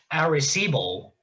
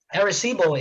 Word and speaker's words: Arecibo: It's something called, I believe it's pronounced Arecibo message, and Arecibo is the name of